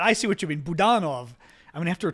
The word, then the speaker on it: Budanov: Oh, you're saying Budanov. Ah, that's true. It is Budanov. I saw it said the other day Budanov on TV, and I was like, I keep forgetting to pronounce it that way. I see what you're saying. Yeah. I keep saying Budanov. I find every word in Ukrainian has an accent in the place that I never suspect.